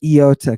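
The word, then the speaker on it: ι: Epsilon Yoda don't say Iota if you say Iota I'm oh God I don't know what's gonna happen I'm gonna lose it don't say Iota say Iota right Iota good I take Iota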